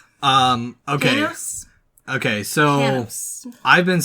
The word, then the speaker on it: Panos: This film was also directed by, I'm gonna butcher it, Panthos? Okay. Panos? Okay, so Panos. I've been saying his name wrong for a while.